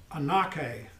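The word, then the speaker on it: ἀνοχή: in a spell a-n-o-c-h-e it looks like a gnocchi but it's anakin and aka and in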